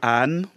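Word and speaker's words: Haan: Alors, c'est André Anne. Anne s'écrit H-A-A-N.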